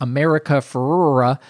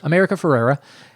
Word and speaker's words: America Ferrera: movie it's overshadowed because America fura follows it up with an amazing speech can you do me a favor and not onp purpose comedically mispronounced sure America Ferrera uh a Latina actress